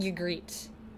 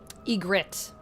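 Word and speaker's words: Ygritte: I've always said you greet basically like the Y, but like it's like Y sound. Yet, you greet.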